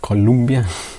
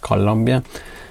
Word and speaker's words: Colombia: in in south america it's colombia it's not colombia it's actually pronounced colombia and actually i'm also irish i got my